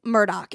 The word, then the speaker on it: Murdaugh: do this on TCO so it's elic it's elic Murdoch it's written Alex murd but it's elic Murdoch like e l i c k elic Murdoch is how you're supposed to pronounce this guy's name look I love you